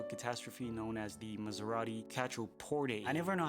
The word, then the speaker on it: Quattroporte: It's Quattroporte.